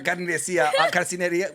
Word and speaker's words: carnicería: It's at the carnicería.